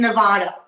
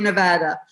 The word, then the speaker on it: Nevada: Oh yeah, got to be Nevada. Of course, I'm English. I want to say Nevada, but I keep reminding myself, no, it's got to be Nevada.